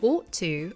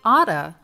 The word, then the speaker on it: ought to: Instead of saying ought to, Americans say oughta with a flap T.